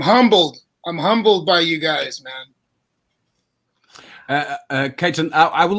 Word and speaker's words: Katon: So I understand As long as they try to say my name, it's cool, but it's Katon.